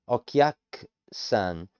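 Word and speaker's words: お客さん: kia and the ku, it gets shortened, so the u is almost non-existent. Okyak, the ku, it becomes k, so the truncation, the airy k, the okyak-san, the u is in the k in pronunciation of this.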